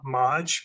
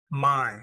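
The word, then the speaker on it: Máj: it's uh it looks like it's pronounced uh Maj but it's actually my which is May and it's a book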